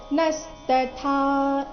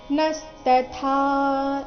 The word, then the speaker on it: ನಸ್ತಥಾ: ಸಂಬಂಧಿ ಧಿ ಮಹಾಪ್ರಾಣ ರಸ್ವ ನಸ್ತಥಾ ನ ಮೇಲೆ ಆಘಾತ ಬರಬೇಕು ನಸ್ತಥಾ ಈ ರೀತಿ ಕೊನೆಗೆ ಥ